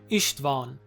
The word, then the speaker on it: István: Well, Isstvan is a poorly pronounced version of the Hungarian name István.